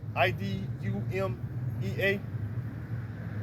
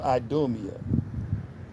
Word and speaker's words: Idumea: It consists of 5 letters and 3 syllables and is pronounced Idumea.